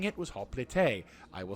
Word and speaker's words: hoplite: Now, some people say, hey, it's hoplite because that's how it's spelled, whatever. But the Greek way of saying it was hoplite.